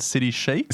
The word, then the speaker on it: City Chic: Ren for the introduction I chose City Chic please note my pronunciation I think I used to call it City Chi and I copped a